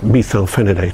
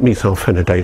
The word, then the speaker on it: methylphenidate: reason their pronunciation of methylphenidate has stuck in my mind you call it methylphenidate i call it methylphenidate